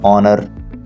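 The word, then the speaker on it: honour: consonant H है तो ये स्टार्ट में साइलेंट हो जाता है आगाज में इसको हम प्रोनाउंस नहीं कहते जैसे हम कहते हैं ऑनर ओके अब ओनर जो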